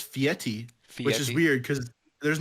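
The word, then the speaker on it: Fieri: do what would guy I always say guy Ferrari because I it's just it's easy I know that's not you know his name is actually like pronounced fiti which is weird because there's no te in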